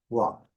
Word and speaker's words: walk: Na mesma toada, pronúncia dessa combinação LK, walk, walk.